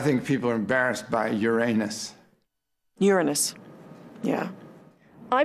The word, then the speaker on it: Uranus: people are embarrassed by Uranus Uranus yeah I pronounce the planet's name Uranus which is very likely closer to the original pronunciation of the name of the god after whom it was